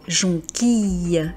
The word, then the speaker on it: jonquille: Pensez également au mot famille, Camille, camomille.